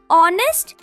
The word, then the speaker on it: honest: So, for example, we use an before words like are, honest or air because the H is silent and they start with a vowel sound.